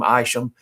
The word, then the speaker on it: Isham: people in following generations that use that name aisham i-s-h-a-m and some people spell it iso him isom seth isom so that